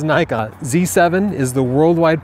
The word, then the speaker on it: Nikon: first of all I'm American Nikon us officially pronounces it Nikon including the president of the company whom I've talked with when he's in America he says Nikon z7 is the worldwide pronunciation for that it's